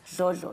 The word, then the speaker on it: Dlodlo: How do you say it? It's Dlodlo, yes.